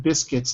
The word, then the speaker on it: biscuit: like biscuit biscuit so the U is not pronounced in biscuit okay great job everyone